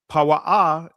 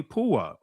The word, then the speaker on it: Puah: That's our ancient pronunciation in the Israeli shiphrah and the name of the other puah and the Israeli puah right?